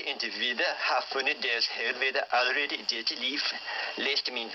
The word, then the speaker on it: allerede: Lutesia, at visse individer har funnet deres helvede allerede i dette liv, læste min... Already? It's not already, it's allerede.